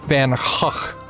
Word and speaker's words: Van Gogh: to actually pronounce it the correct Dutch way because I mean I